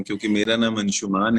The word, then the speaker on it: Anshumaan: है और अब शायद मैं तो स्वीकार कर चुका हूँ कि लोग अंशुमन ही बुलाएंगे। Yeah, I started saying that it's Anshuman, but I have heard it everywhere. It's Anshuman, so people have been mispronouncing your name. मैं तो हार चुका हूँ, मैं तो एक बार फिर से कोशिश कर रहा मैं हूँ। इसको चेंज करूंगी, अंशुमान । Thank you.